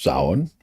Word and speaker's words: Samhain: But the point is that because we're so close to Samain, right? Pronounced Samhain. One of the peculiarities of the Celtic language.